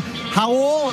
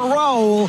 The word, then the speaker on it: Raul: just before the game hul not Raul hul nle from Brazil who's played in Spain it's like haar ruio you don't pronounce the r but welcome to the